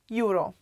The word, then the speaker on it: euro: Euro, euro. Yeah, we pronounce it euro, like Europa, which is Europe.